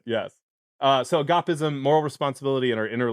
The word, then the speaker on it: Agapism: And then you have another book coming out, Agapism. How do you say that? I say agapism, but Okay. my ancient Greek pronunciation is sorely lacking.